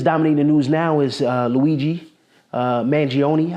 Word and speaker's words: Luigi Mangione: And so, you know, the thing that's dominating the news now is Luigi Mangione, I believe is the correct pronunciation of his name, Luigi Mangione.